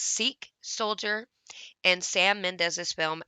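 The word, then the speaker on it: Sikh: the inclusion of a i think it's pronounced seek soldier and sam mendez's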